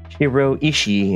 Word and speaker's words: shiroishi: Greensuit that it said it's pronounced shiroishi, and that equals white stone.